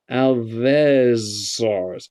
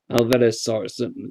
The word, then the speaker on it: Alvarezsaurus: Oh, there's one to pronounce. I'll give you a moment to get your head around that. Alvarezsaurus. That sounds Hispanic, Southern American. Alvarezsaurus.